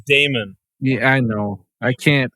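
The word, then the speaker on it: daemon: of stuff lyanna version 8.0 template Heaven Lenna demon Library a new field for last poll time stamp was added to the it's pronounced Damon yeah I know I can't I can't I'm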